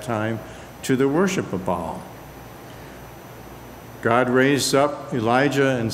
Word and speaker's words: Baal: or Baal, and I tend to pronounce it Baal, and I had a friend who said, "No, you make it sound like it's somebody's intestines." Well, it's not supposed to be. It's Baal, B-A-A-L.